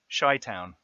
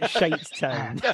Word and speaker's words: Chi-Town: of Chi-Town, which is Sorry, say that again. Chi-Town. Yep. Oh, so not Shitestown. No, it's Chicago. It is. Oh, right. It's spelled Chi-Town, like in the Vanilla Ice song that created all the bass sound. It's spelt like Chicago.